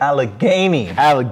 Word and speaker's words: Allegheny: i said it right this time right camp allegheny allegheny all right all right that's what it